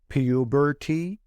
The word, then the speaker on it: puberty: یه بار دیگه تلفظ میکنم puberty یا puberty. اون تی صدای د میده.